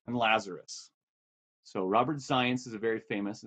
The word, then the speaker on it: Zajonc: This was a big debate between two major social psychologists, Zients and Lazarus. So Robert Zients is a very famous, Z-A-J-O-N-C, that spells Zients, rhymes with science, and Lazarus.